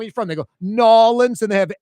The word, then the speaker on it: New Orleans: They say noans. Noans. Noans. You never heard that Mario Brothers? Can't say I have. Well, you need to hang out with some 80 plus year old uptown white women clearly. And it's also just a low percentage. I think most 80 plus year old white women in uptown say New Orleans.